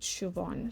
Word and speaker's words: Siobhan: who is Morgan and I think you say her name Siobhan, but it's spelled a little bit differently than how you would say it, but I think it's said Siobhan.